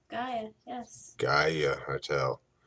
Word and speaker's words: Gaia: And we're at the Gaia Hotel. Is that how you pronounce it? That's right, Gaia, yes.